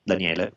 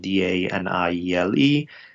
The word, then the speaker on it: Daniele: So my name is spelled like Daniel with an E at the end, Daniele. So Daniele.